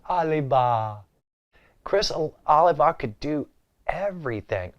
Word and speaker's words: Oliva: I'm saying it like Mrs. Douglas on Green Acres. Oliva.